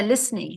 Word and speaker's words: listening: listening yes good yeah listening was the right one and remember the t is silent so I'm tired of